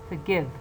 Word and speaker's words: forgive: the middle of the word also they are pronounced as shua, like forgive.